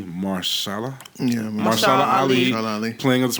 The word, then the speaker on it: Mahershala: I want to say his name correctly, Mahershala.